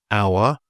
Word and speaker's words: hour: So if a word feels fancy or French, the H might just be not said. So some examples of this would be honest, hour, honor, air, and of course ghost.